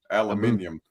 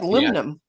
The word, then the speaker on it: aluminum: how about aluminum can you guys say aluminum aluminium you do not say that word like that